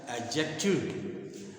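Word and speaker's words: adjective: आप ख एडजेक्टिव एडजेक्टिव तो इसमें ड का उच्चारण नहीं होता एडजेक्टिव इसका सही उच्चारण है एडजेक्टिव आप लोग पढ़ते हैं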